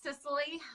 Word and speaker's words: Cicely: Well, my name is Cicely, like the island, pronounced like the island, spelled differently.